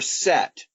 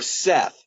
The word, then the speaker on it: Seth: by his his brother set or Seth s ETH sometimes you don't pronounce the H sometimes you do anyway set is the